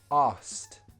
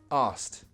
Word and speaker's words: asked: we speak quickly and when we speak quickly pronunciation gets a little more relaxed so this is how